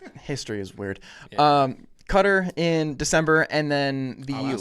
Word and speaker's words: Qatar: The the the proper pronunciation is is cutter. I'm disappointed in the commentary. They say Qatar all the time cuz they're British.